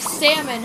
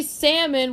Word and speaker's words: salmon: letter sometimes yeah like salmon has this the silent L why could they just say salmon without having the L